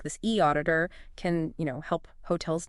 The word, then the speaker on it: eAuditor: And the other looks at a specific platform called E Auditor Audits and Inspections that's pronounced E Auditor.